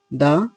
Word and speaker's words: the: country country এখানেও ঠও কি sound consonant sound দা country country তার আগেও দা বসলে উচ্চারণ হবে দা এবার আসলাম দা কখন দি